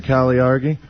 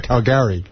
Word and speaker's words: Caligari: No, I'm saying he said it wrong. Whatever answer he said, it's the cabinet of Dr. Caligari.